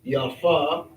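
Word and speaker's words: יפה: right here ya yod The pay has both the p and the ph sound which is the f. So this would be yafa.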